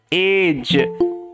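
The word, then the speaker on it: edge: আগে যদি ডি থাকে, জি এর আগে যদি ডি থাকে, তাহলেই আমাদের ডি লেটারটা সাইলেন্ট হয়ে যায়, ঠিক আছে। এখানে ডি এর উচ্চারণ হয় না, আমরা জানি।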